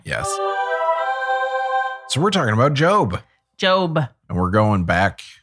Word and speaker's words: Job: no this is the guy who everything spell job yes okay but it's pronounced job right that's the guy where everything